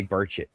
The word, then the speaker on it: Burchett: I say Burchett.